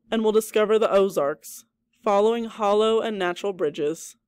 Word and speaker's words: Ozark: of the Ozark landscape the name Ozark probably comes from the French word o arcs which is pronounced the same way however no one knows